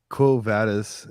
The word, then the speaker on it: Quo Vadis: to say too like you know oh yeah cool vadas is that how you say it yeah cool